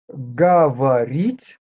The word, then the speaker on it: говорить: One more thing, letter O here is not stressed. The letters which are shown capital are stressed. So letter O in this position, when it is not stressed, should be pronounced closer to A, sometimes definitely A. Here, объяснять, объяснить. Number 12, говорить, you see, no sound O.